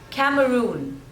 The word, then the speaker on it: Cameroon: Cambodia next one is Cameroon Cameroon so again there are three syllables and the stress is on the third one Cameroon Cameroon Cameroon next